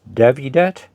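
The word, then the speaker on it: Dowidat: Yes, I think you pronounce the W as a V, so it's Davidat.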